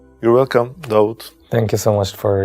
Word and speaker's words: Daud: it was David just I changed the pronunciation David to doubt David and doubt is the same person yeah right so for